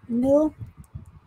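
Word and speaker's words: Mille: Mill. The E is silent.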